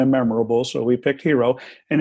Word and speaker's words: Hero: Yes, it rhymes with euro and peso, so it's kind of memorable. So we picked Hero, and it's tied into